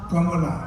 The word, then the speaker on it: Kamala: KY it's ker and the pronunciation of your opponent's name is not KLA it's Kamala Madame vice president I would